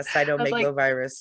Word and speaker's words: cytomegalovirus: i said oh it's just like it looks but you don't know